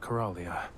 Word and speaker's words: Coralia: Aunt Cor- How did you pronounce her name? She'd like it if we called her Aunt Coralia.